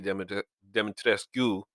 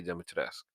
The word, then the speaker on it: Dimitrescu: anyway, I looked up the pronunciation. So they said that in some places they actually call her Lady Demetrescu Mhm.